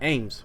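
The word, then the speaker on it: AMWS: system mecca's were produced also known as a M WS s and pronounced like aims for some reason these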